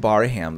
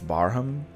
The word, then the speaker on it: Barham: up to this D I've been calling him baram this whole time and apparently it's Barham so nagging patronizing coward